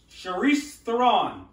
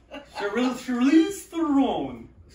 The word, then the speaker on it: Charlize Theron: Charisse Theron. Did I mispronounce the name? Bill, show us. What's Charlize? Shoot him. Charlize Theron.